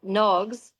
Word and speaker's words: Nogs: And um Nogs is it's a Irish word and it would actually be pronounced NOGS because of the fod over the O.